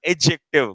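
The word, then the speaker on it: adjective: this इसे note एडजेक्टिव बेटा ये ए और जे के बीच का दी हमेशा क्या राहत है साइलेंट तो ये क्या पढ़ा जाएगा एडजेक्टिव क्या पढ़ा जाएगा एडजेक्टिव दी साइलेंट रहेगा इसमें खैर बात की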